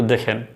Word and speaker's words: the: উচ্চারণ করছি, আপনারা একটু দেখেন। This is দি এন্ড অফ দ্য film. তাহলে এখানের যে দিটি সেটি হলো দি, কারণ এই এন্ড একটি শব্দ, এন্ডের কিন্তু ই ভাওয়েল দিয়ে শুরু হয়েছে।